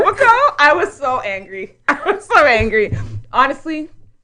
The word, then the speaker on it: Etobicoke: He tried to say Etobicoke, but he was like, Etobicoke. Edipicoke.